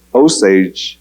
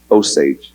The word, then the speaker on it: Osage: that, and I guess in French, wa is spelled with an O. And then the ja was their S and the A, and their G was a G and a E, which now got translated to Osage in the English language.